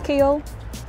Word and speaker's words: Keele: about Kiel name well the name Kiel is derived from the anglo-saxon Chi Hall which is kind of like cow hill and depending on your accent how you say it Kyle Hill Chi Hall kind of becomes keel so what was behind